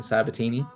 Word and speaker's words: Sabitini: how do you say your last name Logan sabatini satini yep just wanted to get a chance